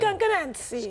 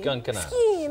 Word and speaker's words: Skunk Anansie: Do they have a different way of pronouncing the name of the band in Italy? Skunk Anansie. Skunk Anansie.